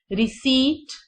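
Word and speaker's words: receipt: रीम, रिसीट, यहां पर P silent है और ई और आई मिलकर ई साउंड देंगे, रिसीट.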